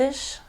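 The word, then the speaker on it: ich: in English you'd see I CH and it looks like itch or dick but it's it's a much softer like ish like hi it's nice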